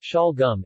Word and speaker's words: Şalgam: salgum or salgum suyu it is pronounced shal gum in translation turnip juice is a popular and